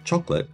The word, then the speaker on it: chocolat: episode of fabulously delicious chocolate in France Rich history chocolate is pronounced chocola in France and spelled c h